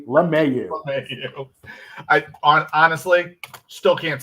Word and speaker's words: LeMahieu: Another guy that she can't say his name right, and that is DJ, not Lemieux, DJ LeMahieu.